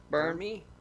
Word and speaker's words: Bern: How do you pronounce that, Kathleen? Chad? Bernie? Bern?